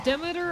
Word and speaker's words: Demeter: Also, Demeter, I'm 99% sure is how it's pronounced in the original games. People judging me from pronunciation can suck it. That's how it was pronounced in the first game.